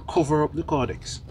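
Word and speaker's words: caudex: pronunciation of your word you pronounce it correctly codex codex spelling is c-a-u-d-e-x yes some people think it's c-o-r-d-e-x oh it's c-a-u thank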